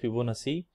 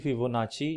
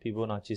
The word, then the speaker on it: Fibonacci: Marathi we pronounce like Fibonacci but it is actually Fibonacci in Italian so I will prefer the Italian pronunciation Fibonacci series and indeed you